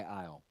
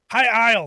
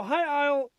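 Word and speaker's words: High Isle: getting the high-rise expansion i isle hi i'll thank you i'm sorry i have it right on the docket and still said it wrong um that was the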